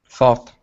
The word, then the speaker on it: thought: word here now yeah remember that GH does not make a sound in the word okay so instead of it's th th th thought there you go so so the GH does not make a sound thought thought there you go good